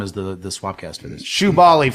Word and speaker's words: Shubaly: Shubaly for a million people is Shubaly. Spelled like it sound. Yeah. Yeah. Well, that would be SHOO. There's a million ways it sounds. It could be like Jubilee, Shubaly with Jubilee.